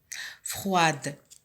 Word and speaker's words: froid: Froide au féminin, froid au masculin. On trouve ici la lettre finale muette, c'est le D, qui ne se prononce pas au masculin, mais que l'on trouve au féminin qui se prononce.